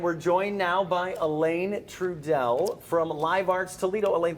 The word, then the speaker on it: Truesdell: And we're joined now by Elaine Trudell from Live Arts Toledo.